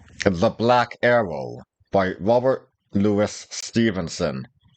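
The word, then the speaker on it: Louis: reading it is The Black Arrow by Robert Lewis Stevenson it's not Robert Lis Stevenson damn it anymore than that doctor's name is pronounced jaal everyone knows it's j anyway let's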